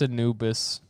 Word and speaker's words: Anubis: like the Egyptian god Anubis is a uh is simping tell me what I'm saying it how to say it correctly I'm sorry but it's Anubis Anubis I mean I